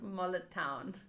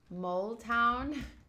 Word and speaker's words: Mole Town: So I thought it was Mullet Town. Mole. Sorry. Mole Town.